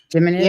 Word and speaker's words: Geminids: The annual Geminids? Is that how you say it? Geminids?